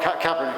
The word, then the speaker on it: Kaepernick: When pronouncing his name right? Oh, Kaepernick. Kaepernick, Yes, Kaepernick.